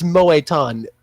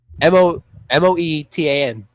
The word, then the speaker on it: Moetan: I have a feeling there's an accent It's over just literally just, it's Moetan. How you think you would spell it. It's Like just all that? one word. M-O-E-T-A-N.